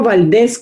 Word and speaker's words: Valdez: y si es vivo valdez con z lleva tilde no lleva tilde porque es palabra aguda y no termina en vocal n o s s exacto ahora que